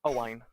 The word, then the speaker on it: Owain: Owain. Is that it? Exactly, yeah. Oh, can you pronounce it though? Because I still feel like a dick saying it. Yeah, Owain.